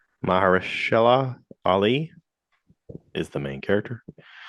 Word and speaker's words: Mahershala: Uh, I can't pronounce Maheshhala. Mahershala Ali is the main character.